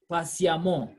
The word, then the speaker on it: patiemment: Note this word, this I've said, that the EWMENT or AWMENT are pronounced the same way. So we say amant, amant. So we say violent, violemment. Méchant, méchamment. Passion, patiemment.